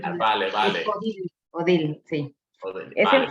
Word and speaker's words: Odile: Técnicamente se pronuncia Odile, entonces para poderlo, porque siempre es un... Es Odile, vale. Es Odile, sí.